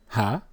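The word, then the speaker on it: ה: the brown side they have hey there that pronunciation is incorrect it is ha look at the sound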